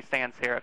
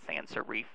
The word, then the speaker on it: sans serif: every presentation so yes that would be sans serif and serif not sansa reef and sarif but that's just usual